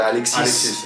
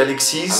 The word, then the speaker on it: Alexis: Porque meu nome tem um S que é mudo, então eu entendo que pessoas vão pronunciar. Eu falo Alexis. Então é muito comum pessoas me chamarem de Alexis.